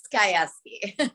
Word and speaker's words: Gajewski: how do you say your last name it's skyeski i ask you to see i was going